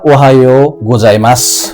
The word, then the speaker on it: おはようございます: Japanese भाषामा लेख्दा खेरि उ लेखे पनि उच्चारण मा चाहिँ योलाई तान्ने चलन छ त्यसैले ओहाययोौ गोजाई मास भनेर यहाले भन्नु परेन मात्र ओहायो गोजाई मास भन्नु भयो भने चा चै